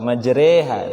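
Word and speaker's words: مجريها: disuruh hud ayat 41 majreha Re ya kan kalau dalam bahasa Indonesia itu ada reader ya patokannya adalah bagaimana kita menyebutkan e dalam remote remote majer bukan majreha ya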